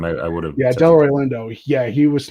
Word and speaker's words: Delroy Lindo: the first time i i would have yeah delroy lindo yeah he was not for the golden gloves